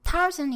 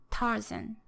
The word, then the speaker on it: Tarzan: So Tarzan in English has 2 syllables, and the stress is given to the first syllable. So there's this strong, weak, long, short, up and down rhythm, Tarzan.